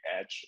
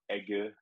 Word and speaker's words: Egge: but everyone calls me Edge or Egge, how it's pronounced in Germany or in German.